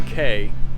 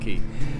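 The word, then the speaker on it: Cay: gonna head to tilu K trying to transition into saying it that way it's spelled c-a-y but it's pronounced key but we were gonna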